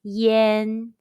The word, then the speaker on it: yan: an initial or consonant it is spelled as y-a-n and pronounced yen yen means smoke in